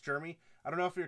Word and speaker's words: Jisdeax: up and chat here they call him germy pronounced Jeremy I don't know if